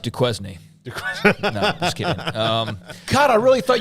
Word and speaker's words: Duquesne: very tough first for five weeks uh it's pronounced Duquesne um God I really thought you were being